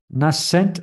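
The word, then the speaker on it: nascent: that so that's and cultivating that eagerness nurtures nent how do you pronounce it n a s c n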